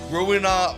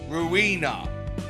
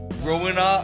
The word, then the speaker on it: Ruina: I've been referring it to it as Ruina. I don't know why, but that's just how I've been pronounced it up until this point. And someone mentioned that it's actually pronounced ruiner like ruin than uh and that just makes so much sense.